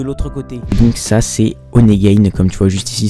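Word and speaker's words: Honeygain: se retrouve de l'autre côté donc ça c'est onegade comme tu vois juste ici ça s'écrit h o n e y G a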